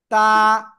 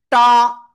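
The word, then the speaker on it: ت: নিয়ে উচ্চারণ করব, জাস্ট তা, তা, তা। অনেকে কিন্তু এরকম উচ্চারণ করে ফেলতে পারেন, টা, টা, এরকম হবে না কিন্তু, হবে কি, তা, সিম্পল।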